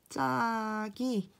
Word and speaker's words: 갑자기: 첫 번째 단어는 실제로 어떻게 발음되나요? 바로 갑자기 라고 발음이 되는데 이 같은 경우는 위에 4가지 환경 중에서 첫 번째 환경에 해당됩니다. 즉 여기 갑의 받침 비읍이 뒤에 예사소리 지읒이 오면 얘가 된소리 비읍이 된다는 것이겠죠.